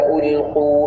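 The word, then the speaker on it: ألقوا: ഇദ ഉൽഖു ഫീഹ എന്ന് വ്യക്തമായി ഹംസ പറയണം. ഉൽഖു എന്നുള്ള സ്ഥലത്ത് ഖാഫും വ്യക്തമായിട്ട് അതിൻ്റെ ഉച്ചാരണ സ്ഥാനത്ത് നിന്ന് വിശേഷണത്തോടുകൂടി കനത്തോടുകൂടി എന്ന് പറയണം. ഖു എന്ന് പറഞ്ഞാൽ ഉൽഖു എന്ന പദം ആവില്ല, ആ അർത്ഥത്തെയും സൂചിപ്പിക്കുകയില്ല, അവിടെ ഖുർആൻ തന്നെ ആവുകയില്ല. അപ്പോ പ്രത്യേകിച്ച് ഖാഫിനെ ശീലിക്കണം.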